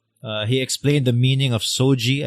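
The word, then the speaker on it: SOGIE: explained the meaning of so gee I believe that's how you pronounce it SOG ie we get into in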